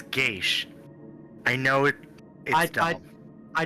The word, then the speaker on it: Geass: language I know I I've heard gas I've heard yes I've heard geish I think Gage is the traditional pronunciation for this word though yeah see this is